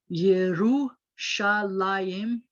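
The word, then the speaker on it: ירושלים: words that you've had to learn it says yerushalayim yerushalayim i guess you can guess what it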